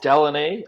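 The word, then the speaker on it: Deline: paper chase here uh it's del it's called delaney uh northwest territories and it's spelled d-e-l-i-n-e there there's another ufo sighting from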